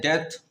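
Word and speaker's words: debt: दूसरा है डेथ। यह भी यहां साइलेंट है।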